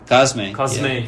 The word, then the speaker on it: Cosme: Cosme.